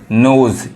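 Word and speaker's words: nose: नहीं पढ़ाता है जैसे एन ओ एस ई नोज ई नहीं पढ़ा रहा इसको नोज कहेंगे तो गलत हो जाएगा हम आने वाले वीडियो में ये भी सिखाएंगे देखिए यहां पे जो एस है वो ज पढ़ा रहा है यही एस जैसे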